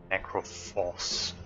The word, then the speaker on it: Necrophos: Not necromancer, it's Necrophos. Necrophos? Is it Necrophos? How do you pronounce it? Necro. Necro is right, like necromancer. Necrophos.